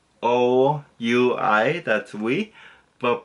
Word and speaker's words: oui: So like O-U-I, that's oui, but pronounced like W-E.